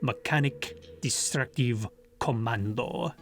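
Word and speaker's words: Mëkanïk Destruktïẁ Kommandöh: mechanic destructive commando and they are supposed to be pronounced like that mechanic destructive commando the teutonic classical style and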